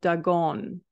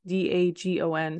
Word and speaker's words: Dagon: regaining his strength and destroying the temple of Dagon. And I don't even know if you pronounce it that way. It's D-A-G-O-N, so Dagon, Dagon.